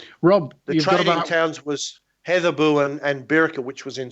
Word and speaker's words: Hedeby: However, the D is based on an old Nordic letter, so it's actually pronounced Heatherbu.